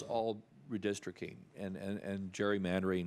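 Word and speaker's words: gerrymander: redistricting and and and Jerry Mander which used to be pronounced Gary mandry um I think that's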